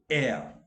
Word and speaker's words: heir: Honest, heir. Not that he was heir to the king, he was heir, and I have written the pronunciation also, heir.